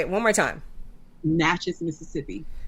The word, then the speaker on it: Natchez: where is he from Natchez Mississippi say it one more time Natchez Mississippi spell that n-a-t-c-h-e-z CH he's easy ah okay I think